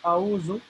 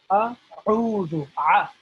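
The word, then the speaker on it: أعوذ: Okay, so it sounds like we're saying auzu, but the correct pronunciation is a'udhu. As I was trying to explain last week as well, is that ayn is pronounced with some emphasis, or some kind of, you could say, you could feel it in the middle of your throat when you pronounce ayn.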